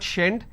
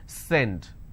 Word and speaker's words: send: For example, send. And they pronounce this, so if you make a mistake, you will end up pronouncing this as shend it. It's not shend, it's send.